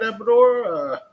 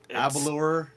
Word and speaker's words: Abalor: All right, Abador. Please. You just called the wrong name. It's Abalor.